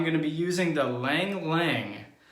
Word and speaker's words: ylang-ylang: to be using the lang lang i hope i'm saying that right y-l-a-n-g i believe that's pronounced ylang ylang shaving soap and the